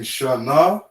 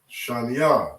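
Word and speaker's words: שנים: So you're going to say shan. Okay, shan. Instead of saying shana, instead of saying shana ya, you're going to say shan. Okay? You're connecting those two characters. All right? You have the lash, right? The lash connected. The by connected. Mash connected. Okay? Shanya. Shanya means two in English.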